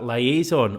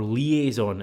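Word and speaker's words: liaison: um who will be a liazon or liazon as I've been told it's how you say it and with Club captains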